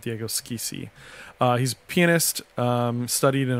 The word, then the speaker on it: Schissi: The SCH, though, in Spanish, I don't think you really see. You see it more in, like, Italian or German, and in German it's a sh sound, mm-hmm. and in Italian it's a sk sound. So I'm going to go with Diego Schissi.